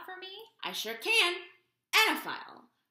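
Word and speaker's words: oenophile: Anaphile. O E N O P H I L E. Annaphile. There is an O. She might be silent.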